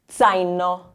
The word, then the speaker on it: zaino: This one here, numero quattro, number 4, starting the word. So zaino.